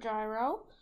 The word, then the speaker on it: gyro: I picked the word gyro the first one is that it rhymes with pyro so you know I